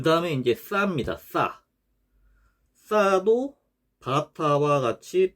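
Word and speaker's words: ث: 요 싸 경우에는 발음이 영어의 thank you 할 때처럼 번데기 발음이죠. thank you 할 때 혀가 양 이 사이로 나와서 내는 발음. 싸 이런 식으로요. 그래서 발음부호는 th 발음.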